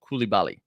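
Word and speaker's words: Coulibaly: I looked up the pronunciation of Koulibaly, and that is how you say it, okay? That's what the pronunciation. That's what Google told me.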